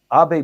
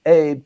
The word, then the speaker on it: Abe: door again you know AB broke the that old he was the longest serving prime minister people actually went from pronouncing his name from ABE to actually ab and that only took